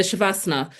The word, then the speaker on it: Shavasana: I had the Asana Rebel app, and at the end of most of their workouts, they do the Shavasana.